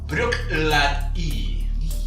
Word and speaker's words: Bruichladdich: Cap dels dos. La pronúncia correcta és Bruichladdich. Bruichladdich. No sé si ho faig bé, tampoc, però... Bueno, aquest, que és molt interessant, no us lieu amb les lletres.